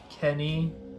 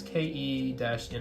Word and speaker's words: Ke-Ni: this SSmodel Type 98 Kenny. No, it's KE-NI. I don't know if they pronounce their katakana like Ke or Ki. It's like a soft or hardy, you know.